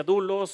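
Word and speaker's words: δοῦλος: El siervo en griego dice que se pronuncia dulos o doloy y son esclavos, en este caso, esclavos voluntarios de su amo, que es nuestro Señor Jesucristo.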